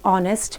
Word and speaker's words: honest: V sound example an honest man edge of the word honest is silent hair the word begins with a vowel sound similarly we write n